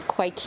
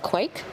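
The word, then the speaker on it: kveik: years which is um quake east i'm going to pronounce it quake yeah okay so yeah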